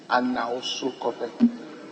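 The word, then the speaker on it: Anawsukope: In fact, it is spelled A-N-A-W-S-O, so we delete N-O, S-U-K-O-P-E, Anausukope, without the no in between.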